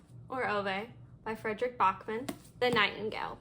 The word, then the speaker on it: Ove: I need to look up how to pronounce her last name correctly. Firefly Lane by Chris and Hannah. A Man Called Ove, or Ove, by Frederick Bachman.